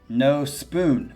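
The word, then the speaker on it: Nospūn: The band has stated that it is pronounced No Spoon. Oh, shit. Didn't know that. Thank you for that correction. in reference to the Matrix. Ah, there is no spoon.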